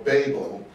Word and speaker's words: Babel: See, but the word babble or babel, as the Brits like to pronounce it, B-A-B-E-L, actually, etymologically speaking, it means gate.